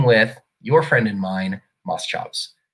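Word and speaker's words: Moschops: your friend and mine Moss chops some people say Moss cops I just I feel like it has to be Moss chops I don't care what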